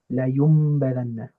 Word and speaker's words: لَيُنْبَذَنَّ: But because after my noon sakina, there is a meme, there is a ba, I'll switch the pronunciation of that noon to a meme. And they've ever so helpfully added for me a nice little meme symbol on top.